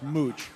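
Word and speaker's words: Mouch: is by the way it's it's Wesley mooch that's I mean I think it's I think it's pronounced mooch yeah and yes yes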